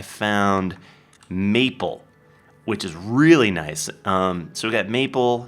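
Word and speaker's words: gneiss: generic be is pronounced nice pronounced nice the g is silent and the ne is like an eye yeah so I found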